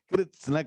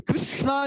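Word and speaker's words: kṛtsna: Krishna, you're practicing. No. Practice Kritsna. Now write down. What are all the syllables that are coming? K, R, T, S, N. 5 things within a short word.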